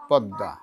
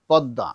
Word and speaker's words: পদ্মা: ঠিক আছে পদমা পদ্মা কি মনে থাকবে একটু নাকে আসবে পদ্মা পদ্দা পদ্দা পদ্দা না ওযে আগে নিয়ে আসে চন্দ্রবিন্দু আগে আসবে না পদ্মা একটু নাকে আসবে তাহলেই হবে এইবার দেখো আরেকটা